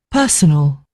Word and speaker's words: personal: Personal. Yeah. So this is personal. And the other one was personnel. So personal and personnel. So it is sort of it's sort of an ow and an el.